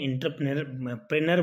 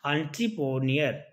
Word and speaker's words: entrepreneur: वैसे अपन बोलते हैं इंटरप्रेनर बोलते हैं इसको, इंटरप्रेनर वैसे अपनी भाषा में बोलते हैं अपन, अपनी जो मदर टंग होती है उसमें बोलते हैं इसका प्रोनाउंसिएशन। बट एग्जैक्ट वर्ड क्या होगा इसका, एंट्रप्रेन्योर, इसका मतलब कोई उद्यमी।